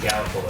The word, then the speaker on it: Gallipolis: It's pronounced Gallipolis.